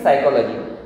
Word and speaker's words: psychology: साइकोलॉजी begins with P. P is silent, absolutely, psychology.